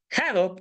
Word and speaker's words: Hadoop: Hadoop, que es la pronunciación adecuada, hace también que podamos